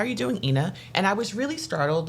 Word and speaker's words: Eanah: walked by and said how are you doing Ina and I was really startled like who knows